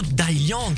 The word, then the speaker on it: Dai Liang: disais ça veut dire quoi Dantes et surtout d'alliang ah oui Thaïlande ça c'est mon nom chinois bah tu prononces très bien c'est ça c'est ça veut